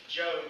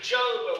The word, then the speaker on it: Job: And I come to you last week to let you know that even though Job, or Job, the way his name is supposed to be pronounced, is that even though his name represented that, he wouldn't stand for it.